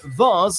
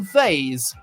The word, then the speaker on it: vase: Actual linguistic studies have been conducted on different ways people can pronounce this word, whether it's said vase like Mars or vase like haze generally.